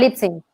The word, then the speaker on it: Libsyn: Así se pronuncia. Tal cual. Libsyn.